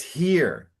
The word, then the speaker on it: hear: said, I pray thee hear me, but it's here. And so sometimes the second vowel is to help you know that the first vowel is open and strong. So it's hear me Here, instead of okay. heyar, heyar.